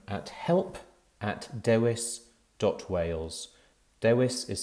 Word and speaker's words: Dewis: can contact them at help dois dot wales dewis is spelt d-e-w-i-s that's help dewis dot wales and